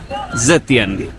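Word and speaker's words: Xintiandi: Tapi ini high end namanya Zentiandi. Tulisannya X I Tiandi tapi bacanya katanya Z Tiandi.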